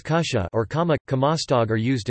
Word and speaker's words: kutja: Words like kutja, pronounced as kusha, or kama, kamastog are used instead of apparently.